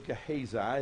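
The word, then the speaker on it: Gehazi: a very close associate his name was kaiza is how I pronounce it and gaze I see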